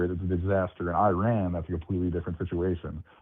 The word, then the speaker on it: Iran: I'll pronounce it Iran next time, and I'll say. Yeah, there you go. That's what the country's called. It's Iran.